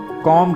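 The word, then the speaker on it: comb: कंघी को इंग्लिश में कॉम कहते हैं कॉम यहां पर आपने बी को प्रोनाउंस नहीं करना है बी को साइलेंट रखना है कॉम पर्दों को इंग्लिश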